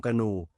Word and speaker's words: กนู: เขียน หนังสือ โลก ของ กนู The Jean US World กนู ออก เสียง ว่า กู นู เป็น ชื่อ เรียก Will